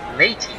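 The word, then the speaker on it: Lahti: they go to Jeff lady I believe you pronounce his name I think the H is silent Jeff late I think he's thrown one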